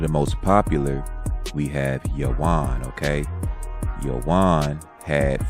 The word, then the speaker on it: Javan: They replaced the Y's with J's, so people would say Javan. It's actually Yawan. Okay, V's are pronounced like W's, and the Y's were replaced with J's.